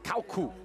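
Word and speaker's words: Käyhkö: best we could tell he's telling us to pronounce it Kalku.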